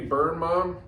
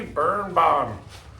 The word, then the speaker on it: Birnbaum: How do you say it? Andy Birnbaum. Andy Birnbaum.